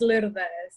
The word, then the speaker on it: Lourdes: Is it Lourdes? Tell me. In Spanish, it's Lourdes. Lourdes. Come on, teach me one more time. It's the R. It's Lourdes. It's actually two syllables.